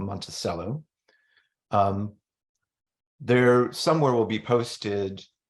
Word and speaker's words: Monticello: That's why it's pronounced Monticello and not Monticello.